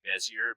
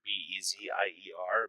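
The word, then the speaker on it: Bézier: them these are called bezier it looks like bezier b e z i e r but it's pronounced bezier these are called bezier handles and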